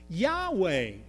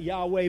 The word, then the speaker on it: Yahweh: Now, I pronounce that Yahweh, but honestly, we really don't know. Because you see, the Jewish people were so reverent about God that they would never write that with any vowels in the name.